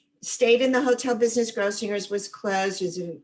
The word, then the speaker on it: Grossinger's: And Grossinger's is with the hard G, Grossinger's.